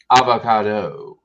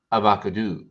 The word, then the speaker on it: avocado: convince me to say it's not pronounced avocado it's avocado you probably live